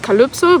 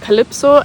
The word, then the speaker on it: Calypso: pronounce my name, because in German you pronounce the Y of Calypso, you pronounce it like an U. So it's pronounced Calypso, but still some people